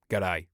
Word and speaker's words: G'day: So, it's kind of like pronounced like this, I suppose. G'day. Cuz he's leading in with the pause, see?